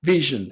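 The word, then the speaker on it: VSHN: uh first of all that's how you pronounce the name vision and we're the devops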